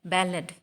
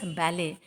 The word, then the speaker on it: ballad: You will see there, this poem, Legend of the Northland, is a ballad. Ballad, or popularly we pronounce as ballet.